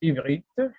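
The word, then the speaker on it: עברית: Donc, en hébreu, ça se prononce ivrite, parfois on le dit ivrite.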